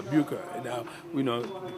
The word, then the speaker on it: Bucher: Booker is B-U-C-H-E-R, Booker.